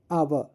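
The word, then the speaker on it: hour: आवर आवर ओ यू आर आवर। एच नहीं pronunciate हो रहा है। हम तो यहां पर एच ही साइलेंट लेटर है।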